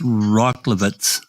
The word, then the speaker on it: Rockowitz: I'm gonna say that's Rocklevitz. That sound right, Susan? Rockowitz is what I would say. Yeah. Rockowitz.